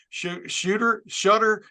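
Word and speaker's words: Shedeur: him from Jackson State, along with his son, Shutter. How do you pronounce it? Shooter Sanders? Oh my goodness. Shooter.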